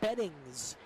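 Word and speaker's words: Bettignies: that one was difficult so i had him spell it to me phonetically and it's de beddings he wears the number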